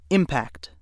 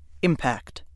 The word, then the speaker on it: impact: again impact and impact which pronunciation you use depends on how the word functions in a sentence let's see how this